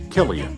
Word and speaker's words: Cillian: 2023 was the year the world learned to pronounce Killian.